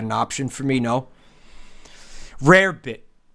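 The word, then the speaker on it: rarebit: Rare bit. But I believe it's pronounced rabbit.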